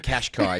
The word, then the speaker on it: Qashqai: Nissan Kashkai is actually how it's pronounced.